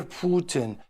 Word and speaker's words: Putin: to close with this the proper pronunciation of a Russian leaders named Vladimir Putin Putin and watch are Danielle